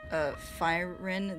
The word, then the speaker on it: Thyrin: Thyrin is pronounced Fyrin.